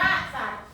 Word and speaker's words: สัตว์: ว่า อะไร คะ สั สว สัต อ่าน ว่า สัตว์ นัก เรียน คะ คำ ว่า สัตว์ ตัว อะไร สะกด ต ตัว อะไร สะกด ต เต่า ต